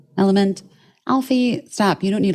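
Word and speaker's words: LMNT: El element element is spelled lement but it's pronounced element Alfie stop you don't need electrolytes you know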